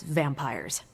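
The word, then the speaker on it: vampyres: Pronounced exactly the same as vampires.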